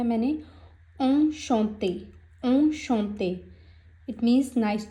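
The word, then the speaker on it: enchanté: तो next example ली है मैंने, ऑन शॉन्ते।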